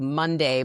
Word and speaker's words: Mondai: Helen Russell, who's the head of HR at HubSpot, recently shared that they created a ritual at HubSpot called Monday, but it's spelled Mondai.